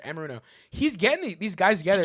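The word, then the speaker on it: Anarumo: Amaruno. Yes, you said it right. Amaruno.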